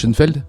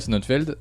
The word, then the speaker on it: Sonnenfeld: Schoenfeld Sonnen. Sonnen. S-O-2-N. Pas Shonen. F-E-L-D. Ouais. Barry Sonnenfeld, ce type-là, c'est celui qui a réalisé La Famille Adams, qui a beaucoup marché.